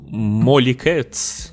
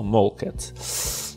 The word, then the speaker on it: Molecats: Ну, вообще читается как Molly Cats, конечно, но при том, что это два слова Mol и Cats, то Mol Cats. Molly Cats, не знаю, все равно если вместе, это одно слово, по правилам читается Molly Cats.